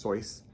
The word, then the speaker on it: Seuss: Seuss his real name is pronounced toys fun fact for the day and I we just finished up dr.